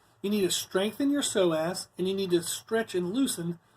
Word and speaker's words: psoas: in that is your so ass muscle it's actually spelled ps0 AS so it's pronounced so as to the P doesn't have any sound to it but that's what you'd